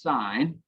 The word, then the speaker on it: sine: learned about sine but we abbreviate that s-i-n but that's still pronounced sine we have cosine and